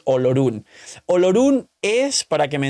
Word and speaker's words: Olorun: y encima las traducciones se ha perdido la pronunciación real, porque Ororón es como lo pronunciaría un japonés, Olorun.